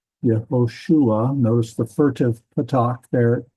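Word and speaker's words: יהושע: So, in Hebrew, Joshua is pronounced Yahosua. Yahosua.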